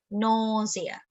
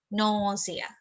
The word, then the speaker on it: nausea: the stressed is on the stress is on the syllable no and then c because